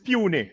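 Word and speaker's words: puisne: The word is puny, really. Puny, yeah, but it's spelled that way.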